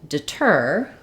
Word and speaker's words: deter: English as well so when we have the word deter our stress falls on the second syllable tur that means that